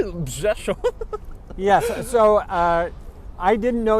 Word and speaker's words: Rzeszów: to add the nearest airport to Przemysl is Rzeszów, and it's spelled with RZESHOW. Rzeszów.